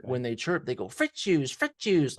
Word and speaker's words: Fritzius: You got the accent on the wrong Fritzius. syllable.